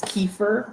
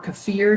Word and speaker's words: kefir: people will use yogurt some people will use kefir or kefir depending on how you pronounce that you are going to get some